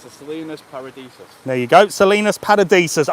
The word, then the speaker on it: Salinas Paradisus: How do you pronounce it? It's the Salinas Paradisus.